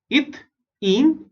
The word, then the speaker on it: ethene: ETH is eth and AN is ane. Right? इन तीनों में देखोगे first 3 letters are same, eth, eth, eth, and the last 3 letters are different. यहाँ पे AN is ane, EN is ene, and YN is ine.